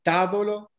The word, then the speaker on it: tavolo: puntino la parola e tavolo tavolo o tavolo e tavolo l'accento tonico cade sulla terza sillaba perché dico terza perché cominciano a destra la prima la seconda la terza ma per comodità per